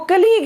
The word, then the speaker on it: colleague: इसकी प्रोनाउंसिएशन क्या है, इसकी प्रोनाउंसिएशन जो है वो कलीग है।